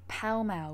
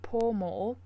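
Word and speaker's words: Pall Mall: this morning saying that the pronunciation for this word should be pal mail when it comes to the central London Street which starts from Trafalgar Square and also which is famous for the club's but the way that I pronounced it yesterday poor mole is not correct when it comes to din the name for the street but you could pronounce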